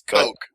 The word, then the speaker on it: Koch: I believe it's Coke, like Coke Zero.